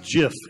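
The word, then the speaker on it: GIF: we get this Wow it's pronounced jiff it's the kids oh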